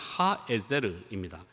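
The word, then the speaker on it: הָעֵזֶר: 정확한 발음이 뭐냐면 그냥 하에제르입니다.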